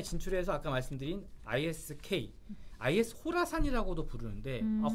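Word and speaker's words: Khorasan: 그래서 아프간에 진출해서 아까 말씀드린 ISK, IS 호라산이라고도 부르는데 호라산인데 왜 K냐? 네. 이게 KHORASN 그러니까 코라산이 아니고 철자는 K가 앞에 붙었는데 K가 묵음이 되면서 호라산이라고 그래요.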